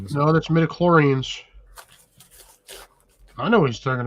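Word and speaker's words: midi-chlorians: Metaclorans. What the heck is he talking about? Star Wars. Some I think he's mispronouncing Star Wars things. No, that's mediclorans.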